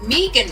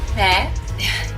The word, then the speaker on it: Meghan: People were saying meh. It's not meh. It's pronounced me. The H is silent.